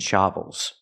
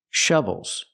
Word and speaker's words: shovels: The word is pronounced shovels. So, what's the difference? If I say shovel, that's the open a sound like hot and stop. I need the closed uh uh sound like cup and up.